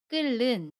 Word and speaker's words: 끓는: 격파 치밀히 흙과 첫소리 자음 니니 만납니다 그러면 끓는 이라고 발음 해요 첫번째 바침 미르 밀로 발음 해요